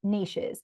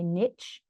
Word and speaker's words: niche: So, here's the thing um with niches and I know um I think Americans say niche in Australia we say niche like kiche um and a niche